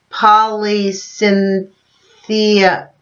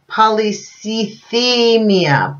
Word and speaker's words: polycythemia: radioactive first in quotations leukemia Polly Cynthia polycythemia polycythemia unquote sorry about that guys pol ycy th e mi a polycythemia I think that's how you say it by the way I